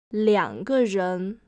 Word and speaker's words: 两: 一个人, 两个人, two people. When two is used before a measure word, two is pronounced as 两 instead of 二.